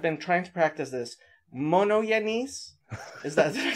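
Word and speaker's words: μονογενής: Well, I mean, monogenes is how modern Greeks would say it. It's how modern Greeks would say it. Okay. When monogenes. Anybody who's not Orthodox goes to seminary and learns Greek, they teach them what's called Erasmian pronunciation. Yeah, I've been saying monogenes. Yeah, that's what that is. That's the Erasmian pronunciation.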